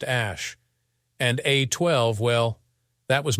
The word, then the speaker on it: Æ: the letter X then AE is pronounced Ash and a12 well that